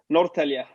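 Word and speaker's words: Norrtälje: still wrong can you give us the proper pronunciation there nortelia oh i i i took a stab in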